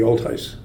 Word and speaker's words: Olthuis: to the law firm Altius Peltier sounds almost Roman Altius is that's a Dutch name it's actually the Canadian pronunciation in Dutch would be all theis hmm clear is that